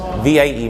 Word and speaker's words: Vie: In French, VIE means life. You pronounce it as vie.